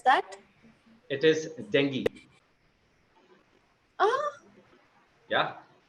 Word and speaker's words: dengue: How to pronounce that? It is dengue.